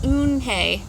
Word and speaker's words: Eunhye: Yes, it's pronounced Eunhye. And it means grace, said Mr.